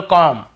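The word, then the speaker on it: comb: उच्चारण करते लेकिन देखिए एम के बाद यदि बी है तो हमें बी को नहीं पढ़ना है केवल कॉम यहां पर भी बी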